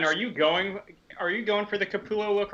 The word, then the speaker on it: Capullo: Comics Will Break Your Heart says, I think I mispronounced his name. It's Capullo, isn't it?